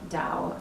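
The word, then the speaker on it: Tao: is spelled ta o even though it's pronounced with the duh you can find it easily on the Internet you just Google Dao and it comes up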